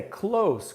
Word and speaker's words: close: primeira palavra cloud nine o som de s no final e não são josé close close é perto perto ou até eu